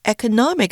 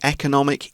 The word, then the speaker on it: economic: 情况状况我们可以用 scenario or scenario，好，两种发音都是可以的。那特别指的是预想事物在未来可能发生的状况。另外呢，也可以用 situation 这个字，那它就泛指事物的状况。所以呢，例句 The current economic situation is challenging due to rising inflation. 目前的经济情况由于通膨上升而充满挑战。 And again, for that one, you can say economic, economic, both are okay.